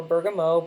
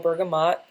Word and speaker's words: bergamot: So Bergamot comes from Italy, or Bergamot, Bergamot. There's several pronunciations.